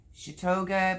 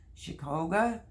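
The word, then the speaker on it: Chioggia: to be doing um i say chitoga but it's actually c-h-i-o-g-g-i-a which is probably pronounced chicoga uh beets right there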